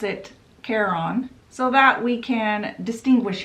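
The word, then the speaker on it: Charon: look up the pronunciation the first pronunciation was Care on or Karen literally the guy that fairies you to the underworld's name is Karen uh it's hilarious so I'm going to pronounce it Caron so that we can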